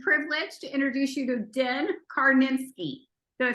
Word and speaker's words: Din Karnitskiy: I'm so excited and honored and privileged to introduce you to Den Karnitskiy.